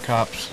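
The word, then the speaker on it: Copse: yes yep okay uh cops say pronounced cops cops okay did you hear that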